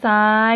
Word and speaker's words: ทราย: ต่อ ไป น้ำ ตาล ทราย นอ อำ นำ ไม้ โท น้ำ ตอ อะ รอ ตาล ทร เขา จะ ออก เสียง ซอ โซ่ นะ คะ ทอน จะ